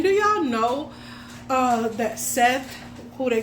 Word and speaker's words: Set: But um Seth, I say Seth, but Seth, whatever you want to call him, Seth. Set su if you really want to pronounce it right.